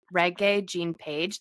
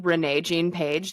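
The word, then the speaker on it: Regé-Jean Page: Bridgetgerton himself, Reggae Jean Paige. That's how you actually say his name is like reae. Um, which Kirsten and I kept calling him Renee Jean Paige the whole time.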